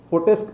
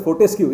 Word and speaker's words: Fortescue: blast engineer and currently he is working with protest metal group mr nazim hope i pronounce it correctly yeah that's one it's actually fourth ice cube metal screw okay we call it as fortescue yeah i wanted to yeah correct that yes